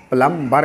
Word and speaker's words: plumber: फिक्स करता है, वो प्लम्बम के हिसाब से प्लम्बर कहलाया। बाद में इंग्लिश में जब ये आया तो भी साइलेंट हो गया किसी वजह से।